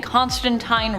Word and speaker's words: Constantine: Also, for those who want to tell me in the comments that I'm saying Constantine wrong, I am saying it the way Neil